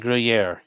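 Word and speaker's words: Gruyère: Gruyere is pronounced like Gruyere.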